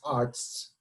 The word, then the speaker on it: Artz: i did it matt arts i i you know like i just joked with matt about the german pronunciation which is arts you know so now